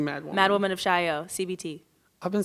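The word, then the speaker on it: Chaillot: Mad Woman of Chaio, CBT. I've been saying it wrong this whole time. I've been like Mad Woman of Chalet. I don't know. Mad Woman of Chilot.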